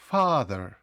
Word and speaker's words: father: не знаходиться під наголосом бачите у слові father є дві голосні але наголос ставиться на a father так само у mother